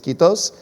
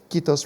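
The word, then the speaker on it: kiitos: if i say it right i believe it's quitos which means thank you in finnish quitos for being with us keith ken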